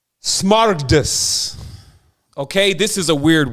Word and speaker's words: smaragdus: I just have to make sure it's on wax in this because, see, if you understand, let me pronounce the word correctly. Smaragdus.